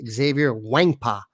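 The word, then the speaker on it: Xavier Nwankpa: names by the way you don't pronounce the n i learned how to pronounce that exactly thought we're going to get them and we didn't it's xavier wangpa you'll see plenty of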